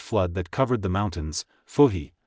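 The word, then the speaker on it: Fuxi: Fuhi, pronounced Fu-He, his wife, 3 sons and 3 daughters escaped in a boat.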